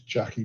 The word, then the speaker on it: Jacqui: Her name is Jackie Beck. So JACQUI Beck, BECK. Wait, say that again. Say that again. Jackie Beck. Jackie Beck. Yep. Please pronounce the name. Jackie as in JAKE.